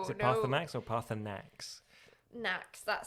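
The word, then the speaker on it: Paarthurnax: Yeah, Parthanax is how it's said, how it's pronounced, but my brain goes Partunax.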